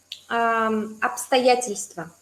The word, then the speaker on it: обстоятельства: Bst, pero en realidad la B se lee como P, entonces es un poco más fácil.